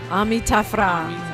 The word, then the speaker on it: Taf Ra: You're hearing, and I want to make sure I'm saying it right, Taf Ra, is that right? Taf Ra. Taf Ra. Get a little roll in there.